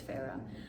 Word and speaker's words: Farah: In the beginning I was pronouncing her name Fair, but I know it's Farah.